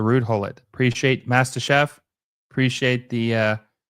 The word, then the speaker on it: Ruud Gullit: So it's pronounced Ruud Gullit. Okay, so Ruud Gullit.